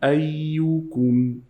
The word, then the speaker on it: أيكم: You have to say ku, don't say ko. لِيَبْلُوَكُمْ أَيُّكُمْ أَحْسَنُ عَمَلًا.